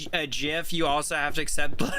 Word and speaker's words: GIF: This is why it's called GIF and not GIF. It's because it's graphics interchange format. It's not JIF interchange for it's not Jaffix.